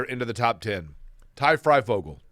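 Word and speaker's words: Fryfogle: Ty Freifogel. Did I say his last name correct? Yeah, it's just like it's spelled.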